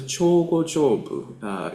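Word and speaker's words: Jōgo-jōbu: It is pronounced as Chogo-jobu in Sino-Japanese translation.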